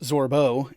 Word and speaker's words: Zorbo: So, a Zorbo, pronounced Zorbo, is a ferocious omnivore similar in size and appearance to a koala.